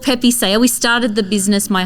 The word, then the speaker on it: Pepe Saya: Is it how do we pronounce it even? So it's called Pepe Saya.